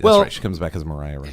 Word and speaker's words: Maria: she comes back as Mariah it's spelled Maria and in the musical was pronounced Mariah and so I've heard